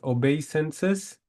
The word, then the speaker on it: obeisances: Two words, right pronunciation is obeisances.